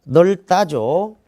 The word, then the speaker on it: 넓다: 넓다죠. 리을 비읍인데 리을로 발음합니다.